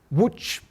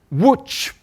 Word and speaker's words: Łódź: It gives you all sorts of useful pronunciation information. And the word that you have to write down is Łódź. Are you watching over there? I know you're a long way away. Concentrate on my lips. Łódź.